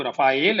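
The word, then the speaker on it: Rafale: देखिए, इसका शुद्ध जो उच्चारण है फ्रेंच में वो रफाएल है, परंतु हिंदी में रफाल शब्द प्रचलित है।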